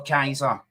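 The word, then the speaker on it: Keiser: Gav, see, when I started appearing in the chats, obviously my name is spelled K-E-I, right? K-E-I-S-E-R, but it's actually K-A-I for Kaiser, right?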